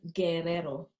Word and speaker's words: Guerrero: Well, my surname is pronounced Guerrero. It's a Spanish surname, actually.